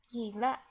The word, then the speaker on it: gilla: Actually, the first sound of the word gilla is a very light sound, and it's the same sound as in the English word yes.